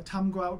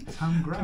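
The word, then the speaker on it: Tamegrout: So, Tamgrout or Tamigrout. Okay. Or Tamigrout. However, depending on your accent, you can mishear it. But you'd spell it like Tamigrout, wouldn't you?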